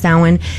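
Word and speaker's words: Samhain: because it is spelled Sam Hayne, but it's pronounced sin and what it translates to is summer's end.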